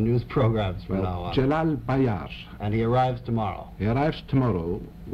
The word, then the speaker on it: Celal Bayar: Celal Bayar.